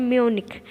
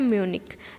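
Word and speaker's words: Munich: इसके अलावा एक और जगह म्यूनिख, म्यूनिख में भी वो गए थे। म्यूनिख में भी वो गए थे। स्पेलिंग इस तरीके से होती है, प्रोनाउंसिएशन इसका है म्यूनिक।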